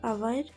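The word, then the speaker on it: hour: For example sign night high next silent letter H when H comes after a vowel और इन जी एच it's silent mean that H vowel के बाद आता है या जी एच में होता है तो ये साइलेंट होता है। For example आवर honest ghost.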